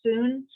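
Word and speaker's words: Sun: i teach it's called soon it's spelled s-u-n but it's pronounced soon um how long it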